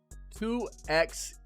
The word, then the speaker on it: 2XKO: The reply was 2XKO. So it is X. Okay. So not 2 times, it's 2XKO.